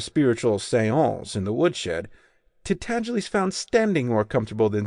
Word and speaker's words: Tintagiles: to pronounce the name Tintagiles correctly. It rhymes with sneeze, and the accent is on the second syllable, and the G is soft.